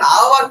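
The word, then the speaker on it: hour: হ্যাঁ, কিন্তু যখন আওয়ার করছি, এইচ ও ইউ আর আওয়ার, তখন কিন্তু আমরা এ বসাবো না, এইচ এর উচ্চারণটা হ হচ্ছে না, ও হচ্ছে, মানে ভাওয়েল সাউন্ড, ও এর মতো উচ্চারণ আসছে।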